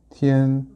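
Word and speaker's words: 天: 중국어로는 어떻게 발음이 되냐면 병음이 이렇게 써요. 티엔, 일성이고요.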